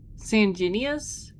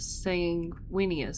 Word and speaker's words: Sanguinius: Sanenius. How is it pronounced? Break it down. Somebody break it down. We know I struggle with the pronunciations. basically gives an actually awesome pre- battle speech where he tells the soldiers that they are all going to die. Want to listen? Sure. Sanguinas. Sanguinius. Sanguinius. Sanguinius.